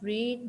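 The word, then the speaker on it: read: spellings यही होते हैं लेकिन हम इसको प्रोनाउंस कैसे करते हैं रीड रेड रेड अब हमें कैसे पता कि ये रीड लिखा हुआ है ये रेड लिखा हुआ है क्योंकि इसके साथ हैव यूज हुआ हुआ है हैव यूज इसका मतलब है कि यह थर्ड फॉर्म है हमारे पास तो हम इसको क्या प्रोनाउंस करेंगे I have रेड this book not रीड ठीक है आई हैव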